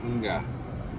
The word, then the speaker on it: mga: And it's not ga, it's nga, nga.